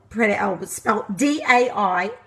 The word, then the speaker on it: Daiso: It's Japanese, and it's called Daiso, spelled D-A-I-S-O, Daiso is how you pronounce it.